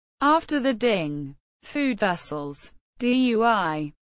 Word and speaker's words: Dui: Dui, not pronounced dun, spherical dish with a cover and 3 short legs.